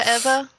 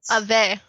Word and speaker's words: Ave: Isn't he loaned out to Eva? Ava? I think so. Ave? That's Ave. Okay, it's Ave. Yeah. Okay. I think I've it's always Ave.